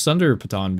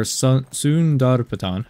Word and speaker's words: Sundar Patan: one of my first Sunder Patan videos. Or Sundar Patan, as I think how you actually pronounce it.